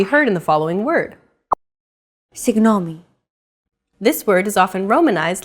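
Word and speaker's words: συγγνώμη: often romanized like this signomi this character isn't pronounced using an English G sound at all it's like a very soft continuous and loose held G almost as if you're gargling but don't make it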